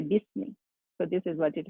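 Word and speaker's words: بِسْمِ: So that's why this ba is directly going to join this scene, and we say bismi. We do not say bi ismi, we say bismi.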